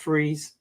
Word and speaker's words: Fries: Like I've told you guys before, we got a town called Freeze, but it's spelled fries. So it's fries in the summer and freeze in the winter.